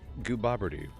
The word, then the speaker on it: Gooboberti: Same name, Gooboberti is how it's pronounced.